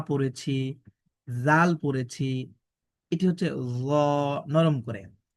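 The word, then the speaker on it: ذال: দাল দাল এরপরে দেখেন জাল নরম করে হা যেভাবে পড়েছি ঠিক একইভাবে আমরা পড়ছি জাল এরপরে এটি দেখেন র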